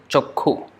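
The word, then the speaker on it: চক্ষু: So the ksha becomes kha, like chakshu. They write like this. Chakshu, but the pronoun, the way they pronounce is chokhu. Chokhu. So no, sorry. This is K, yeah, and this is H. Chokhu. So they will write as chakshu, but they pronounce as chokhu, and they will write as kshatriya.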